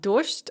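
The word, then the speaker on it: дождь: way the pronunciation of dorst and snake we have word final devoicing so the g in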